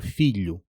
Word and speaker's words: filho: Million gets you most of the way to lh, and if you slow that word down and isolate the middle sound, you can transplant it straight into trabalho or filho.